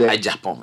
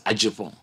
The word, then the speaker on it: Agyepong: Yeah, people keep spelling my name wrong. This is correct. So A-G-Y. E as in Eric. It's not Agyepong. It's Agyepong. A-G-Y.